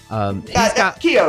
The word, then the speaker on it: Kyo: I can't ever pronounce it correctly. Kyo is correct.